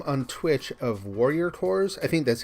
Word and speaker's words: Corps: I think he goes by the name on Twitch of Warrior Cores. I think that's how you would say it. Warrior _ CORPS. I'm checking. I'm going to get his name right. Core. No S.